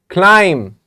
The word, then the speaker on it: climb: Climb, B is silent.